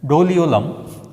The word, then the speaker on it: Doliolum: Accidia, and next one is Doliolum, you can pronounce it as Doliolum, right.